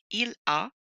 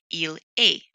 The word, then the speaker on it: il a: I do want to point out that frequently my students will pronounce this il est, and they'll see the letter A and they'll pronounce it like the English alphabet, A, B, C. But remember, in French, the French alphabet goes A, B, C, so this is A. We do not want to pronounce it like the letter A because that is how you pronounce il est.